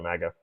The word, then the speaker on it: MAGA: It is weird that she keeps pronouncing it maja though. She does. She she'll she'll continue pronouncing it maja instead of MAGA.